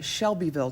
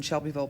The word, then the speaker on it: Shelbyville: know it as a Shelbyville Tennessee but actually the locals in Shelbyville pronounce it like like a shovel it's like June day